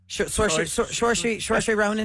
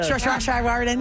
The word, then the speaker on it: Saoirse Ronan: Saoirse Ronan. Yeah. Saoirse Ronan.